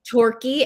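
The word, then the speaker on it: Torquay: Torquy. And it's spelled T O R U A Y.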